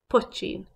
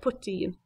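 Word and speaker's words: poitín: And the Irish for that is put-cheen. You may hear that word pronounced a little bit different, a little like put-teen. Put-cheen, poteen.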